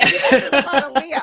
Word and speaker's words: Leah: introduce uh my guest for today so Dr Leah Jones I've been calling you Leia in My Mind by the way oh that's okay Leah I was like oh glad I clear that